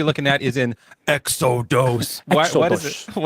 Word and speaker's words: Exodus: Cuz our next verse we're going to be looking at is in exodos. What is that? It's a Greek pronunciation of Exodus because Exodus I think is a Greek word.